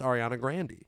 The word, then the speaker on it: Ariana Grande: same where he's it like with ariana grande its ariana grande II but it seems that